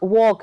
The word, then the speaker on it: walk: So the talk, walk, here L is silent.